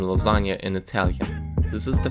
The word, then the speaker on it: lasagna: This is the phonetic transcription, and this is the sound expressed by the -gn- combination of letters. There is no other way in the Italian language to express this sound, and -gn- can only correspond to one sound. So there can't be any confusion about how to spell or pronounce lasagna in Italian, and you don't have